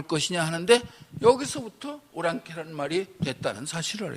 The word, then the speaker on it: 오랑캐: 사는이 지명에 여기 사는 올랑 아를 우리식으로 발음해서 오랑캐 이렇게 발음하게 된 거예 올랑 아가 오랑캐로 되는